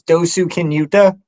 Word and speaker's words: Dosukinuta: uh so it's my name my trail name's dosu kinuta um that's the short version and I got